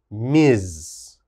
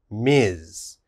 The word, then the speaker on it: Ms: is this one ms the ms is pronounced miz miz and we only use